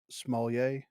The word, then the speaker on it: Smollett: Helped by strong word of mouth, the series starring Journey Smollett. Ain't that how you pronounce that?